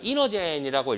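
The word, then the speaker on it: Inergen: 않은 것을 찾아라 그랬죠 자 이너젠이라고 읽습니다 이노젠 01 뭐 이렇게 되는데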